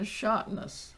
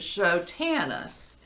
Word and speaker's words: Schotanus: us and preach and he called him mr shotnas right well that that has carried through the years apparently people that don't remember him don't still don't know how to pronounce his name but it is chotanus um and bill chotanus